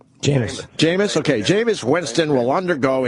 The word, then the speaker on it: Jameis: do you say it's that first name Gina Jameis okay Jameis Winston will undergo internal discipline and